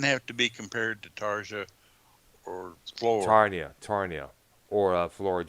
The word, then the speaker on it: Tarja: well, I think it's actually Tarja, but I could be wrong. Or Tarnia. At any rate, The J is silent, by the way, there.